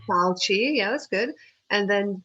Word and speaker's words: Fauci: Fauci. Fauci, yeah, that's good.